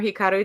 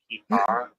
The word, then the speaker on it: Hikaru: he he Hikara Hikara. Robert does that. He just makes up words in the middle of stuff. You just have to. Oh, is that not how you say it? No, it's Oh, Hikaru. It's the summer Hikaru died.